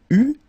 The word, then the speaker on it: eut: Okay, so j'eus, final S not pronounced, tu eus, final S not pronounced, il eut, final T not pronounced, elle eut.